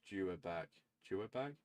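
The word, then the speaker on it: Yhwach: The almighty pronounced Juag Juag is the final antagonist of the Bleach manga and the leader of the Wand Reich.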